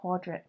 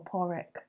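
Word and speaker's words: Pádraig: um in I think in Irish you would pronounce it like quadric or porrick yeah which I think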